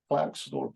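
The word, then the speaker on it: Klerksdorp: a at a mine outside Clark St so clar St is actually the correct way to say but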